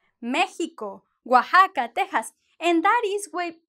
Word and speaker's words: Oaxaca: Yeah, it is not an X and it is not an S. It is a kind of a J in Spanish, like, or if you want to put it in English, it's like the H, right?